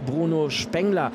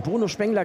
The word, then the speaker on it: Bruno Spengler: Bruno Spengler klingt so ein bisschen nach Duisburg-Meiderich, da ist er aber nicht her und Bruno Spengler könnte tatsächlich die korrekte Aussprache sein.